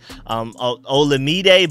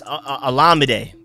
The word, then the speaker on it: Olamide: I'm trying to work on pronouncing his name correctly, because I've been saying Olamide, but it's Olamide.